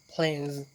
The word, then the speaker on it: plays: this sounds different It might sound like z แต่เราต้องจื้อไว้ว่าบางครั้งเมื่อมันอยู่ในท้ายคำหรือว่าอยู่กลางๆอยู่ส่วนหลายอยู่ท้ายคำศัพท์เนาะมันจะออกเสียงต่างเสียงสั้นที่ลำคอเสียงตัว z ตัว z Okay for example plays ลิ้น The boy plays with the children เด็กน้อยผู้ชายลิ้นกับเด็กน้อยหลายคน